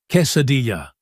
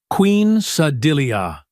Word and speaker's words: quesadilla: He insisted on ordering for all of us, pronounced quesadilla, like Queen Sadilia.